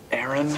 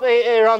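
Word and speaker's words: Aaron: it hey Ron because it's pronounced Aran sorrow bubs you don't messed up ay-ay ron now take your butt down to mr.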